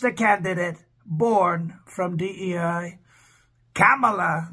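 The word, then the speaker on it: Kamala: candidate born from Dei camela they say is how you have to pronounce her name and we all know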